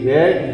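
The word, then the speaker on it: read: ये आपका वाक्य बन गया, this book is टू बी रेड बाई मी। रीड की तीनों फॉर्म एक ही होती हैं लेकिन उच्चारण अलग अलग होता है, रीड, रेड, रेड।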